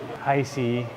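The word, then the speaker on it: Heise: to homestead the area icy is how we pronounce it now was established in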